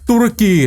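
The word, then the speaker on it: Turki: อย่าง ไร ก็ ตาม เตอรกี ตุรกี้ หรือ ตุรกี แต่ ผม ได้ ยิน คาเนโล เ ออก เสียง ว่า ตุรกี นะ ตุรกี อชิ บอส ใหญ่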